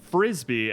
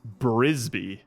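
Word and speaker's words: Frisby: uh dashing put in the chat that it's pronounced mrs frisbee and i thought it was brisby this is another thing guys i'm a fountain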